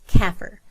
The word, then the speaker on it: CAFR: virtual blackboard there are the letters cafr it's pronounced kaffir these letters stand for